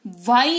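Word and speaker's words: why: word का यूज करेंगे डब्ल्यू एच वाई वाई इसको पढ़ते हैं ठीक है जैसे वह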